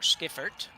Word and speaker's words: Deschiffart: So, Emmer to Skirt now. Skipert I think is how we figured out we pronounce this.